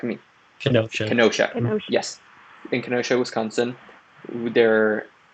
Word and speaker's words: Kenosha: ryan said there was a shooting yesterday in kanoa i believe it's kanoa that's how you pronounce it who's correct me kenosha yes in kenosha wisconsin there it appears the